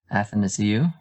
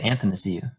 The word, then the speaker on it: Athanasiou: Can address here how Neil says it's pronounced Athanasiou. I say Athanasiou. Same thing. Same thing. Same thing. You say anth? Put an N in between the A and the T. Anth.